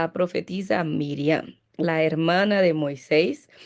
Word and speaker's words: Miriam: el significado porque y pero Miriam es la pronuncia para mí más correcta porque según la vocalización masorética Eso es una cosa aquí. Eh, los el texto hebreo no tenía vocales. Entonces, los mazoretas después de Cristo vocalizan ese texto y en el nombre de Miriam se pone la men, la Jire. Entonces, que es una I, realmente vocalizado como i, la rhita ahí que